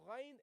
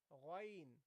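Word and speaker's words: غ: So you say gha, gha, gha, ghain, ghain. Okay? ghayril maghdubi. Okay? So that's how you pronounce it. Gha, gha. Okay? It is very close to the kha.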